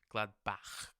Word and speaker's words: Gladbach: Schalke and Borussia mönchengladbach they play Gladbach I know that's how Germans pronounce it they play on Friday